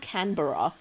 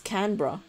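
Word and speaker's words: Canberra: it said yeah exactly it's not canura it's not canbera it's canra I was saying Cana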